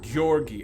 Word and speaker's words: Georgi: G as in grape. It's Georgi as in grape. Okay, I'm still gonna pronounce it Georgie though.